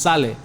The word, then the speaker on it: sale: it's sally sally like sale is pronounced sally sally like for example like